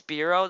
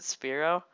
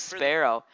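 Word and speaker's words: Spearow: spell Spear and then oh okay oh it's speo that's how you pronounce it speo I thought it was Sparrow cuz I was going to say you should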